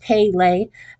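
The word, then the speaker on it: Pelé: We had Princess Di and Miss Dolly and Pele, which is pronounced Pele, and is the name of a famous soccer player who is George Cuesta's hero.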